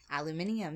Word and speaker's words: aluminium: So, in Britain they say aluminium. Yeah. And I thought for the longest time...